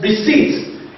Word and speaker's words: receipt: in the word receipt even though you have letter P there the p is silent so we pronounce the word receipt in the word like